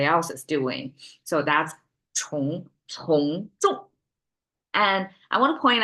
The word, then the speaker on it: 从众: Okay, it's curl the tongue. Okay, you cannot pronounce flat. You have to curl the tongue. It's a 重, not a 重. I was earlier mispronounced. 从众.